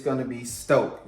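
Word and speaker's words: Stōk: it's going to be stoked y'all see this line over the o lines mean that you elongate so long o so stoke is how you pronounce it so we're going to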